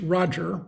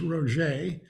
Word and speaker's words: Roger: Roger is spelled as we would pronounce in English Roger, but he's French Canadian, so the name is Roger.